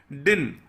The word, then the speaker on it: din: डिन, DIN, बड़ी छोटी सी स्पेलिंग है, DIN। ज्यादातर लोग बोलेंगे दिन, लेकिन ये एक्चुअली में बोला जाता है डिन।